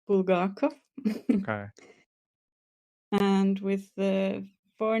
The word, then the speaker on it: Bulgakov: this man's name so it's bulgarov okay not bulgarov or something it's bulgarov okay and with the for names it's just